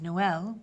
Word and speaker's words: Noël: troisième to the second vowel, you've added another syllable. So Noël, which is a boy's name, becomes Noël, which is the word for Christmas in French.